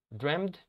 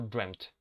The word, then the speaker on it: dreamt: Dreamed or dreamt, all right? Those are the different pronunciations.